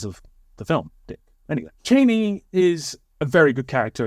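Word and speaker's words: Chani: Cheney or Chaney, I don't know which one. Most people are using both pronunciations, but let's just go with Cheney, because it sounds like Dick Cheney, and, there was a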